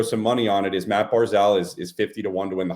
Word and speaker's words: Barzal: going to throw some money on it, is Matt Barzal is 50-1 to win the Hart.